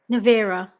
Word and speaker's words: Navira: your Navira.